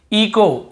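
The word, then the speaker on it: echo: इको, इको, यहाँ पर भी एच, ईचो नहीं पढ़ेंगे, सी एच को चा पढ़ते से ईचो नहीं, इको ही पढ़ेंगे, क्योंकि रूल यही बोल रहा है, ओ के पहले यदि एच है तो हमें एच को नहीं पढ़ना है, ठीक है, एच साइलेंट रहता है।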